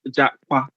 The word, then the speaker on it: Japa: It's pronounced JAPA, not pa, but it's like a pa sound, like a KW almost.